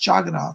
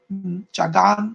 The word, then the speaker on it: Jagannath: your house Jed no sometimes it has an A at the end but it's pronounced jogging on so here's I'm gonna